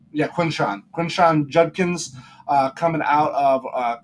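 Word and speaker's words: Quinshon: Yeah, Quinshawn.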